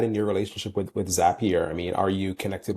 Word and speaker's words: Zapier: making people happier with zapier that's why the name it rhymes with happier in case you ever